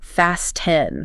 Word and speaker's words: fasten: Your tongue has to push up behind your teeth to create the hissing S, then it has to abruptly halt all air flow to hit the hard stop of the T, and then it immediately has to reposition to create the nasal N sound.